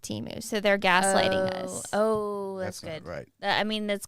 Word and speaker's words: Temu: my brain hurt because I thought it was teu for so long but um somebody sent me a Facebook message with a YouTube link from their Super Bowl commercials last year and they pronounced it Teemu so their gasl oh